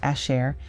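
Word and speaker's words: אשר: Of water, pronounced mayim, means water, symbolizes life and sustenance, which yields, pronounced asher, meaning which, that, connects the clauses.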